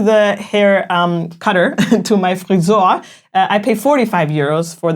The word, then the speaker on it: Friseur: And also tip, of course, because in Germany, you usually tip service providers like friseur.